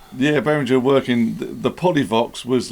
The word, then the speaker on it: Polyvox: We're very good at pronunciations, us. Yes. Oh my goodness. Yes. Polovic. Yeah, I'll let you do that then. This is going to be the Behringer Polyvox.